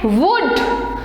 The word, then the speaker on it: would: इनमें L जो है ये साइलेंट होता है, यानी कि साइलेंट का मतलब है कि इन्हें बोला नहीं जाता है। L जो है साइलेंट रहता है। ध्यान रखना WOULD को वुल्ड नहीं बोलना है, क्या बोलना है? वुड।